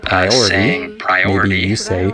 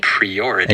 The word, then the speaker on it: priority: Instead of saying priority, maybe you say priority. And you just need to change the pre to pri.